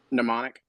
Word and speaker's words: mnemonic: it's just it's wild mnemonic mnemonic yeah silent um like my neighbor